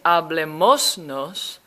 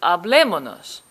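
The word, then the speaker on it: hablémonos: the command but then instead of saying hablemos nos it's just hablemonos it's much easier to pronounce that way there's also one irregular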